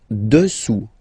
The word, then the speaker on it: dessous: Dessous, dessous. Final S not pronounced here.